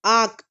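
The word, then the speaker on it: acht: is Xion Xion Xion AC HT is 8 and it's pronunciation is act act act up n EU n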